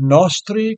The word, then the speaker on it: nostri: of mundi and miserere nostri goes to the first syllable of nostri at the end of